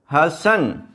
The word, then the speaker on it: حسن: HASSAN، ایسے نہیں ہے، کیونکہ یہ جو سین ہے اس کے اوپر شد نہیں ہے، زبر ہے، یہ اس طرح ہے حسن، تو سپیلنگ اس کے